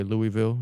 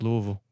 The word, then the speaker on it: Louisville: People say Louisville. It's not that hard to pronounce. Yeah. It's just Louisville.